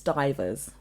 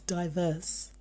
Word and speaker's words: divers: So I think it's divers. It's diverse. But it said you can pronounce it both ways. Yeah, but it's more pertaining to diverse, but it's not diverse. It's not spelt the same way as diverse. It's divers, so I can understand the confusion. But if you look at the pronunciation, it says historically could be pronounced as either die, D-Y-E, verse. Yes. Divers.